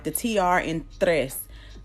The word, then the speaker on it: tres: Uno dos tres and you see how the in it looks like Trace if you're if you're pronouncing in English but T and R together kind of makes the th sound it's kind of soft I'm right back in